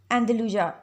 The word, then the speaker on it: Andalusia: Andalusia, Andalusia, Andalusia. अच्छा, English में इसको अंदलूजा पढ़ेंगे, लेकिन उर्दू में इसकी प्रोनाउंसिएशन अंदलस होगी।